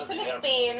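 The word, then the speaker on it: فلسطين: pronounced as a No, we P. call it Philistine.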